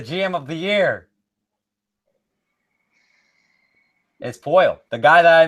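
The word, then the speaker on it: Poile: Oh, I'm sorry, David Poy. I'm just continuing on screwing up names. It's fine. Nice pronunciation there, Trent.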